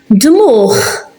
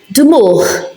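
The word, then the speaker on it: dmugħ: Dmuch. Dmuch. It's at the end, so we pronounce it.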